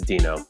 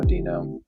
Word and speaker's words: Duenow: It's Dino, I guess. I don't know. Wait, it's what? Like the Flintstones, drop the U, drop the W.